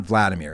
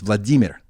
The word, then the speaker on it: Vladimir: like um Vladimir Vladimir it's not Vladimir it's Vladimir vladov vladimirov Vladimir Nabokov